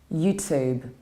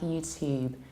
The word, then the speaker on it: YouTube: In American accent, we pronounce it like YouTube. So we say to, exactly like in words tune, tuna, tube, or student.